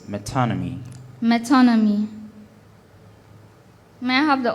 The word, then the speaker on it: metonymy: it is associated with is there an alternate pronunciation for the word metonymy no the only pronunciation i have here is metonymy metonymy may i have